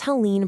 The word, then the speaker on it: Helene: You'll want to contact Helene Matthews, and that's Helene pronounced Helene.